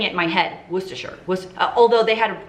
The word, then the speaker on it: Worcestershire: is what they said from england worcestershire that's what they said worcestershire that is how it's pronounced and for the two